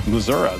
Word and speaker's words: Missouri: time for for a spell I'd say in Missouri you say it's it said there for a